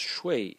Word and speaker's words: 說: shui and sh if if the character is pronounced shui it means to persuade someone persuade the next